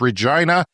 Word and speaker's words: Regina: maybe was confused because it rhymes with a vagina it's Regina it is Latin for